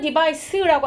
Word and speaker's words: device: 왜냐면 device가 SE가 아니라 C이면 발음은 device라고 하면서 장치, 기계, 도구라는 명사가 돼요.